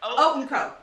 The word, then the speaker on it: Haute & Co.: Think of it like oatmeal. Haute Co.